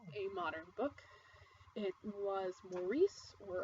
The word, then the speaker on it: Maurice: modern book it was Maurice where apparently it's supposed to be pronounced Morris I'm against that Maurice by em Forrester this book was written in 1913 revised in 1930 published 1971.